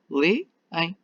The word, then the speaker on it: leem: Lê, em. A tónica é no E, lê.